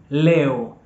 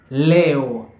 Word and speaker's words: leo: want to say today today in Swahili is Leo Leo Leo Leo so if you want to say